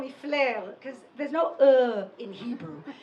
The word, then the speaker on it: Fleur: First of all, because Fleur, nobody can pronounce, okay? So the Americans call me Floor. The Israelis call me Feller.